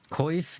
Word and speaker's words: coif: Romanoff that's pretty funny coiff does not rhyme with off coiff is not rhyme with off nobody says cough like cough well I guess maybe they say cough I would not say cough I'd say coiff you cause your hair